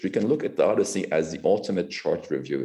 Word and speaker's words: OHDSI: So an example of this is this network called Odyssey, OHDSI, but they pronounce it Odyssey, which combines de-identified EHR data from 52 databases from 4 countries.